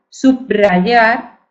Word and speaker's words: subrayar: la b grupo consonántico por tanto el sonido que representa no sería eh sonido que representa es simple sería simple Pero ellos lo pronuncian múltiple por ejemplo en vez de eh aogar sería abrogar subrogar subrayar subrayar postromanticismo más suave subrogar verdad más suave simple y subrayar simple y post romántico sin embargo hay personas que convierten ese fonema simple en un fonema múltiple pero nosotros nos tenemos